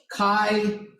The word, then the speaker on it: chi: so it looks similar Kai that's the symbol Chi so chi-square is like that it's it's like pronounced like Kai like bye you're saying like bye but you're using the k sound set as a b